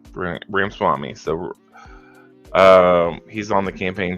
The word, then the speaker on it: Ramaswamy: I can never pronounce it. I know who he is. Anyways, Ramaswamy Swami or something. Ramaswamy. Yeah, that's his name. Ramaswamy.